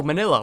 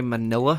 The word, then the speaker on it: Manila: know how to say manila I I thought it was pronounced weird but I think it actually is just pronounced mill miss Manila that's that's weird to me like Manila like manila envelopes it's weird to me